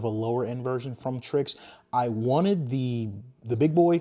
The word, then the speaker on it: Tri-X: So this is the Tri-X. It's spelled T-R-Y-X. It's not Trix. Tricks are for kids. It's Tri-X.